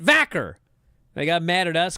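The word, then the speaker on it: Vaquer: good thing remember when Stephanie viir got called up and they were like it's it's Stephanie vaker that's how she pronounces it vacer they got mad at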